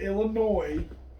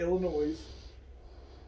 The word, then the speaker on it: Illinois: the midwest region illinois i'm going to say it right illinois not illinois against drexel don't take